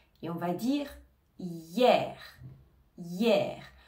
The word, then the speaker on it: hier: on va dire hier hier le h on ne l'entend pas on va bien prononcer le i comme si c'était un peu un y on va dire hier